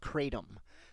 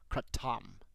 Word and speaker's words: Kratom: to be talking about what I call katum but the actual pronunciation is katam it's the metrona speciosa